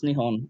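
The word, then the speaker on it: 日本: remembering correctly it is is it nippon or is it nihon i think it's nippon right um um no it's nihon it's uh so it's nihon is how they actually pronounce uh their country and um how we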